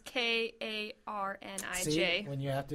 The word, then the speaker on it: Carnage: But Carnage is Karnij.